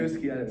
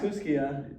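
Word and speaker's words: Kooskia: And Kuski, Stites. not Kuskia. Yeah, I know. Kuski. I got flamed for that. You got spelled with an A at the end.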